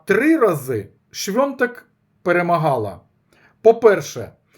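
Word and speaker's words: Świątek: Так як написано польською мовою, святек. Але свято по-польськи тоже пишеться свято, а читається свенто. Тому шонток, прізвища якої походить однокорінне з словом свято, свток святкова типа. Правильно вимовляти швнтек.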